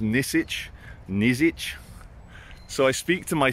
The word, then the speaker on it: Nisic: name tag, and it's N-I-S-I-C is his surname, which I believe is pronounced Nizic.